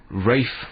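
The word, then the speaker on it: Ralph: Rafe Fiennes. In which country is R-A-L-P-H pronounced Rafe?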